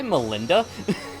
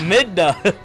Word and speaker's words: Midna: uh belinda twilight princess you say melinda i probably said her name wrong melinda midna that wasn't even close